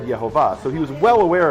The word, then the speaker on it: Yehovah: read it Adonai, but if you take the vowels the way they are, it's not, the name would be read Yehovah.